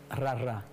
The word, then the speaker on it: rara: Pues bueno, es que la R en creol y en francés, sí, suena así, porque es la manera como se pronuncia el gagá en Haití.